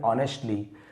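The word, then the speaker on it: honestly: देना everything ऑनेस्टली ऑनेस्टली एच को नहीं पढ़ेंगे ऑनेस्टली ईमानदारी से अब उस व्यक्ति ने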